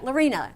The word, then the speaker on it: Laurina: So, I say, "Yeah, Lorna. It rhymes with ballerina."